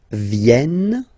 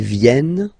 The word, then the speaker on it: viennent: Ils viennent, so remember this classic ending ENT for the third person of the plural is here, but phonetically it doesn't exist, so you don't pronounce it.